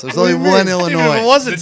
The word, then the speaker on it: Illinois: The S is silent. It's a silent S. There's only one Illinois.